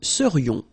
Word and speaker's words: serions: So then, final S not pronounced, and then this is this yon, yon. Remember, it goes in your nose, it's nasal, yon. Nous serions.